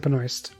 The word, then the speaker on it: Benoist: Kevin Smith Benoist. pronounces it Benoist. Then that's probably right. So she's in the show too, if that helps I love solidify your decision to see it.